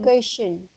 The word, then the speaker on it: vacation: It's V. B. Then Vacation. okay, good. Your pronunciation for this part is okay. It's just it's just for the first sound.